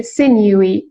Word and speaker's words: sinewy: آره اینطور تلفظ میشه. sinewy.